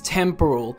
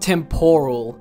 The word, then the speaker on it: temporal: It's temporal, not temporal.